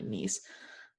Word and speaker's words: Nice: nice nice france i always forget that it's pronounced actually nice um because i try to read it in